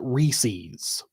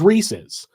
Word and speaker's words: Reese's: like Reese's peanut butter cups, they call it Reese's, which is not the correct pronunciation. From the company itself, it is not the correct pronunciation. The correct pronunciation is Reese's.